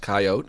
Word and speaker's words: coyote: course if I pr it sometimes it's pronounced coyote and that rhymes with sto which is more fun to say my coyote dealt two